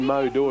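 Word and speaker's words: Mot d'Or: Move behind the line modor is the pronunciation of number seven it means golden word in French okay now they're about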